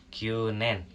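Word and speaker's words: 九年: dan cara bacanya yakni kyunen, artinya 9 tahun. Ingat ya, karena U-nya 2, jadi pengucapannya sedikit panjang.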